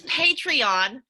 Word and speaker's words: Patreon: I'm pronouncing that correctly its patreon because you're a patron of the art world I have a patreon